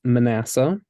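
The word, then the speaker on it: Manasseh: sure just kind of pay attention to those syllables no yeah so in English it's Manassa and so I'm so eager to guess the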